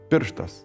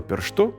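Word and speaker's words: pirštas: and the mobile - if a word stem ended with a non-acute syllable, for example, pir̃štas “a finger” or laũkas “a field”, the stress would move to the ending if it was acute. For example, the earlier forms of the instrumental singular pir̃štuo and laũkuo became pirštù and laukù, while the accusative plural pir̃štuos and laũkuos became pirštùs and laukùs.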